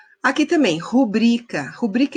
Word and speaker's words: rubrica: coloca sua who briga não é rubricar de acordo com a norma padrão é rubrika tá você fez colocou o som na sílaba tônica errada curtindo que você está